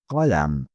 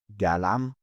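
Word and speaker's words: قلم: Correct pronunciation, kalam. Common mistake, galam or kalam. It is not J and it is not K, but cough. It is produced deeper in the throat.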